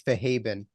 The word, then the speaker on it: Fahadbin: But it's Fahaben.